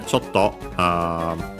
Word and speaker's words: chotto: Uh, I yeah, chotto, Actually, this one is accented, should be on the to, yes, it is.